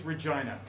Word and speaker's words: Regina: clarify for french people canada the victorians pronounced it regina because they thought it was funny yeah they sat around the table were like hey what rhymes with the regina vagina and it stuck you guys are like